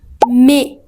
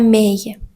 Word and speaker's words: mais: La combinaison de AI se prononce généralement comme E. E. Ce n'est pas EI ou aïe. E. Par exemple, on dit français. Ce n'est pas français. Ou mais. Ce n'est pas mais. Ou frais. Alors, ne la prononce pas comme aïe ou aïe.